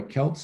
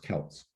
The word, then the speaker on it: Celts: apart these various tribes celts by the way celts is what we pronounce that the scots and the irish are celts notice the basketball team